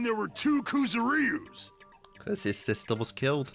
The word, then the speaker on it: Kuzuryu: Yeah, that's how you say it, Kuzuryu. You guys know I'm horrible at the pronunciations.